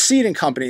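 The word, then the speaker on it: Cede & Company: who owns it well it's seed in company it's spelled c d and Company they're the registered owner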